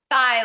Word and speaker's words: Theye: Thigh like the leg. Theye like the leg.